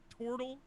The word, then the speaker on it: Tortle: More properly, it would be pronounced Tortle with an And I O, said to not a Blair, that man looked like a turtle.